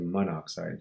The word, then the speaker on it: monoxide: and it's actually said monoxide. So anytime you have a double vowel like that, you can actually get rid of it and just have one of them.